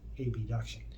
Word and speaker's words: abduction: and it performs hip ab duction abduction is the proper way to say but i like to say ab just to make it easier for everyone to understand hip abduction is when